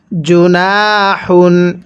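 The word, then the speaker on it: جناح: এরপরে জুনাহন জিমটা শক্ত করে পড়ব। আর এই হাটা উচ্চারণের সময় মুখ দিয়ে হালকা বাতাস বের করব। তাহলে কিভাবে পড়ব? জুনাহুন স্মরণ রাখবেন এই তানবিন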